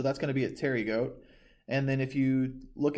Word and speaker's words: pterygote: So if it is a winged insect, it is a pterygote, and if it is a wingless insect, it is a apterygote. So that P is silent, but that's going to be your difference.